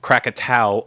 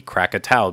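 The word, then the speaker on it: Krakatau: will know that I said crack a towel over and over again um that is because it was spelled k-r-a-k-a-t-a-u which I assumed that was going to be Krakatoa because that's how I would phonetically say it out someone pointed out to me in the comments that that's actually the Indonesian way of spelling Krakatoa which of course I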